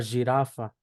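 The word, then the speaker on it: girafa: Lo que viene siendo la G se pronuncia igual que en español, excepto en Y y J, ¿sí? En este caso, la G es, se pronunciaría, esto se pronunciaría Y, y esto se pronunciaría J. Por ejemplo, la palabra jirafa, jirafa.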